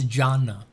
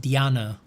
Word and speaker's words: Jhana: No, it's Jhana. It might be pronounced in different I would I might be pronounced Diana. And you can search Diana like d y n a but the traditional more common is like that. I didn't need to say that.